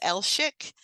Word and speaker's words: Elshik: It's Elshik, and it's spelled just like you say it, but it gets pronounced like wrong like all the time.